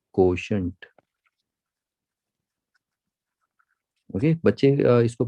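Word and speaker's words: quotient: Okay, बच्चे इसको pronounce नहीं कर पाते हैं, इसको देखो, ये जो है यहाँ से यहाँ तक इसको पढ़ते हैं को, और इसको शंट, SHU, जैसे हंट होता है ना, शंट, हंट, कोशंट, इस तरीके से पढ़िए।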